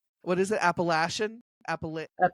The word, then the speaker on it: Appalachian: Appalachian. Appalachian. No, I did it wrong. You were very close. Appalachin.